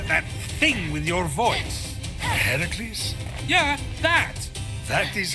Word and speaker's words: Heracles: you doing there that thing with your voice herocles yeah that that is how it's supposed to be pronounced seems like a lot of work but